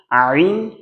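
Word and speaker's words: ع: এই মাঝখান হতে হবে আইন হা আইন হা একটু চাপ দিয়ে মাঝখান থেকে বললেই আইন হা সঠিকভাবে উচ্চারণ হয়ে যায়।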